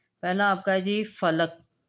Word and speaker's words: فلک: آپ کا ہے جی فلک، فا کے اوپر زبر، لام کے اوپر زبر اور کاف کے اوپر جزم۔ سحر، سین کے اوپر